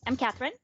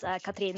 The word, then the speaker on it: Cathrine: So I'm Cathrine, or if you want to try the Norwegian pronunciation, it's Cathrine.